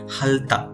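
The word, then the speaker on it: 핥다: और यहाँ पे एक वर्ड है जो कि सेम इसी के अकॉर्डिंग है, वो क्या है, हलता। ओके, इसमें थिगत क्या है, हमने साइलेंट कर दिया है।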